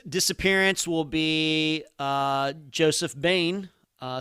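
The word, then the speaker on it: Boehm: bain uh spelled b-o-e-h-m every time i see that name i know mentally i pronounce it wrong but uh then i remind myself no it is not pronounced how it looks joe little joe bain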